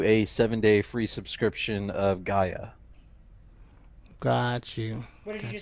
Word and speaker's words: Gaia: Gia, huh? It's pronounced Gaia.